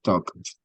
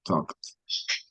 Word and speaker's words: talked: Okay, so in this case, it's talked. Entonces es un pasado donde sale el aire con la T, talked, Talked.